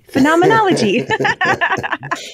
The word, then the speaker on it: phenomenology: stuck in my head she was like it's phenomenology phenomenology like the Muppets yes and so now